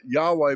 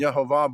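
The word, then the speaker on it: יהוה: Yod He Vav He, usually pronounced Yahweh by some people and Yehovah by others.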